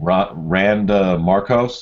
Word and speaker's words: Randa Markos: Randa Markos. Is that how you pronounce it?